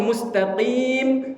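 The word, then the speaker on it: المستقيم: Ihdinasiratal mustaqim. Pakai huruf qof. Makharijul hurufnya dari tenggor dari pangkal lidah ke langit-langit yang lunak. Qi qi qi. Dibacanya ihdinasiratal mustaqim. Ditukar jadi kaf.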